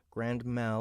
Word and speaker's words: grand mal: it called again nope grand mal is pronounced as one piece rather than Grand being an okay an adjective modifying Mal okay and martum is